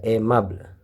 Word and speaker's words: aimable: ai itu dibaca e. Ya, ini le-nya nggak dibaca, aimable.